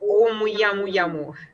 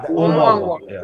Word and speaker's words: Oumuamua: It is right that interstellar object, as you might know, the one that was called Oumuyamuyamu. I can't pronounce. Oumuamua.